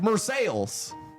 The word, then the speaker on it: Marseilles: It's spelled the same way, but everyone's like, yeah, it's Marseilles, you know?